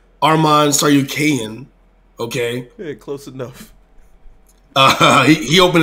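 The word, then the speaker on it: Arman Tsarukyan: one strong shot because i was pronouncing it armand sure you can but i was corrected armand saw you kayan okay close enough he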